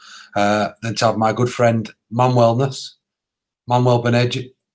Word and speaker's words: Manuel Benages: my good friend Manwellness, Manuel Benages. How do you say it? You're right, you're nearly there then. Manuel Benages, yeah. Manuel Benages.